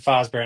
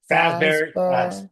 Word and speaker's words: Fazbear: of Murray Company and Fosbear Entertainment. Um how those both started Fazbear. There we go. Gota say it right.